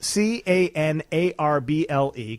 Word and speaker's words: canarble: all that time people didn't know how to pronounce it here it's a complete mystery it's c a n a r b l e canarble and the and where that came from